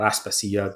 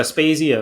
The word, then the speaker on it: Aspasia: So Aspasia is the anglicized pronunciation.